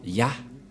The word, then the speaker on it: Yah: vais mettre en bas sa prononciation C et l'autre se lit à H je vais expliquer simplement et lorsque on va regrouper à la normale ça se transforme en ya que nous allons écrire